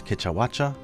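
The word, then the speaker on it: Kecha Wacha: which is Keta watcha in Japanese it's the same it's Keta watcha and its nickname is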